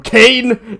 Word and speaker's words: Cain: I stole her from Cain in all capital letters. C-A-I-N, which rhymes with pain, and of course, I'm not supposed to like, oh, look at this, I got a ghost too.